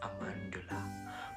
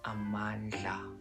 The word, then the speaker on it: Amandla: You know, a lot of people online write it as Amandula, but like, it's pronounced as Amandla.